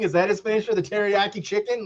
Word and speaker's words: Teriyaki: It's really supposed to be like you said, Marcus, Terry, but they pronounce it teriyaki. I mean, that's how they Well, I would pronounce have pronounced it like that if I read into it a little harder.